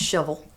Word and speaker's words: Shelbyville: From Shelbyville, and pronounced shovel.